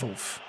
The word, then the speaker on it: Wolf: I also need to start pronouncing it Wolf, because it is Wolf. And I keep forgetting that. He's German.